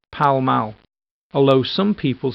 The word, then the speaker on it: Pall Mall: be called after the game it is usually pronounced power mal hello some people say Pall Mall temeraire Street this street is named after a